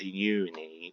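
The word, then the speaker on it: Ennui: When her makeup got all ruined because she went in the water along with Uni, which is spelled E-N-N-U-I, they actually properly reacted.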